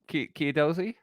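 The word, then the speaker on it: Chiedozie: Well, as it's spelt. Chiedoze?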